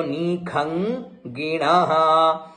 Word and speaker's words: निखंगिणः: गग में ग जुड़ा हुआ है, अंग में है ना, तो निखंगिणः।